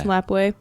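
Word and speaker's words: Lapwai: Is that how you say it? I'm assuming that is how you say Lapway, it. It's Lapway.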